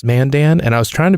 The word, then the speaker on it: Mandan: and Saturday then a gig came up in Mandan North Dakota which is near Bismarck and I say that because there's no way you knew where mantan was and he has it's pronounced Mandan it was the first question I had when